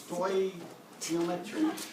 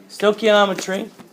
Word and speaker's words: stoichiometry: You guys know, anybody know how to pronounce that? Stoichiometry. Stoichiometry.